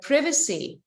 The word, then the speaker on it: privacy: responsibilities in terms of the privacy or the Privacy depending on where you are we can pronounce it in two ways there are more things